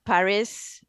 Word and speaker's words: Paris: go from lyon to paris uh i had to pay 80 bucks i believe it's pronounced perry you don't pronounce the final s